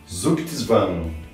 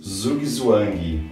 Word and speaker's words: Zugzwang: de proveniência alemã e a pronúncia é mais ou menos o seguinte: Zugzwang, e em português Zugzwang.